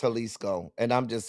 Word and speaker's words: Jalisco: It is pronounced Halisco. And I'm just saying Jalisco sounded like just a real gringo.